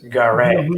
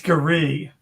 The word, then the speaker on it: Gary: You mispronounced his first name. His first name is Gary. It's Gary. Gary.